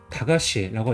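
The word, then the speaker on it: 駄菓子: 발음은 다가시라고 있습니다.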